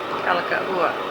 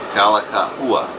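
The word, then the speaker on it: Kalākaua: Kalakaua. Kalakaua. You have to pronounce every vowel in the language here, otherwise you're in trouble. It might mean something naughty.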